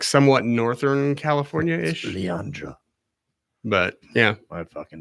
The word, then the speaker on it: San Leandro: San Leonardo.